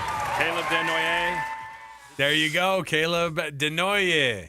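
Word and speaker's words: Desnoyers: proud to select from the Moune Wildcats, Caleb Deon. Caleb Denoy. There you go. Caleb Denoy. You got some of the pronunci apparently.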